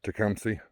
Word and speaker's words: Tecumseh: Of the Shawnee, that's how people around here pronounce it, Tecumseh.